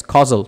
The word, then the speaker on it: causal: we have casual markers now what are casual markers these are discourse markers that show cause and effect okay uh causal yes causal sorry not casual very or take my words